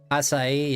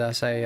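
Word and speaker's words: açaí: At least in Portuguese, that's how you say it.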